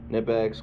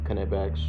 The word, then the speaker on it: Knipex: Knipex, Knipex, however you want to pronounce it. I've heard that it's actually Knipex.